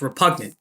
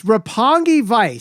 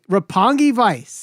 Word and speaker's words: Roppongi Vice: strike two for you you said roppongi vice it's repugnant repugnant vice republican it's roppongi vice say it right roppongi vice i think i'm saying